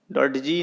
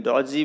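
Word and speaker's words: dodgy: डॉट जी नहीं बोलेंगे, डॉजी बोलेंगे, डी साइलेंट है।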